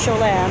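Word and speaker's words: Cholame: where the accident happened I'm pretty sure it's pronounced sholam it's c h o l a m e and all it really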